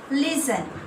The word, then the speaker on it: listen: Next, listen. Now tell me, what is the silent letter here? Listen. Listen. Listen. Listen. What is the silent letter? Very good. T is a silent.